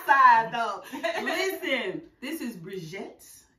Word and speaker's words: BriJette: Listen, this is BriJette. Say it right, boo. Don't say it wrong. It's like Sinette. BriJette, get it right.